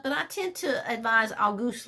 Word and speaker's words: Auguste: It's spelled like the month, August, with an E tacked on, but it's pronounced Auguste.